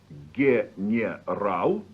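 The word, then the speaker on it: генерал: Another example is the word for a general, said slowly general, but pronounced general.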